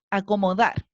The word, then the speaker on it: acomodar: Vamos con otra palabra, acomodar. acomodar. Tenemos 1, 2, 3, 4 sílabas, ¿cierto? ¿En cuál está acentuada? Acomodar. Ahí cargué la voz en la última y suena bien.